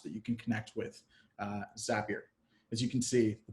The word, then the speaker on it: Zapier: and for those of you that were wondering zapier Rimes was happier and that's how you pronounce it so zapier allows you to connect